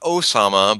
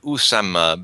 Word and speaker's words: Usama: you have uh o not Osama but Usama Bin Laden since Arabic is put into uh Latin letters Roman letters um uh one has to pronounce them correctly as Nostradamus would because he had sarason